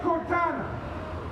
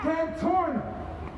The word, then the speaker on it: Cantorna: him when the DA Cortana, always mispronounced his name. say it right for me y'all. Cantorna.